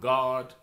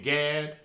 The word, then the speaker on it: Gad: did you know that in hebrew gad the phonics on it is g-a-w-d which is pronounced god we be saying gad but but but the